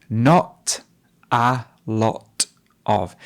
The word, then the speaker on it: not a lot of: So there's two glottal stops there. Not a lot of. Do you notice how she drops the T?